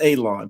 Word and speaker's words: Alon: First off, my name is Alon. Pronounced like you're going to cut grass, like you're going to cut a lawn. It's not spelled that way, but it is pronounced that way.